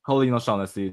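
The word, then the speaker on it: Colleen O'Shaughnessey: Colin O'Shaughnessy.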